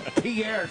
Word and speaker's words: Peart: How do you say it this week? It's Peart. I've never said Peart. Neil Peart. Canadians fucking say. You got to throw a little French in there.